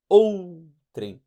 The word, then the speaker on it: outrem: Ele a gente não separa, a gente diz outrem. Eles são fracos. O U tem uma pronúncia mais fraca.